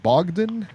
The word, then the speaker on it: Bogdan: Is that right, Bogdan? Yeah, Bogdan. I believe so. Yep. I think that's how you pronounce it. That's 100% accurate, sucker. You got it.